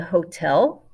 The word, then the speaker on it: hotel: hotel el hotel the hotel so if you want to say they are going to the hotel von all hotel hotel remember your h is silent another cognate la